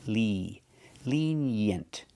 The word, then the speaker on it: lenient: We have the short S sound like eggs and bed. Yent. Lenient. Together, lenient. Put the stress on the first syllable.